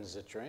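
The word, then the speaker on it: Zittrain: were at just a little earlier uh Jonathan zitrin am I saying it right yep he is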